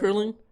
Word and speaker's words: Heckerling: But it's Amy Heckerlin. I think that's how you Amy pronounce it. Heckerling.